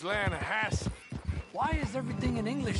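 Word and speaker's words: Lannahechee: rolled down to the Lana Hatcher River I caught some beautiful steelhead trout you mean the Lana no Lana hatch it runs right near here yeah but it's pronounced Lana Hass why is everything in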